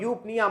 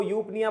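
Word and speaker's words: eupnea: तो बात को समझ जाना, जहां जहां पे यू आता है मतलब ई, यू यू ई यहां पे साइलेंट रहता है। यूटोसिया, यूथर्मिया, यूफोरिया और यूपनिया मतलब नॉर्मल बातें हैं।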